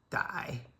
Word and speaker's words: 歹: Die, third tone.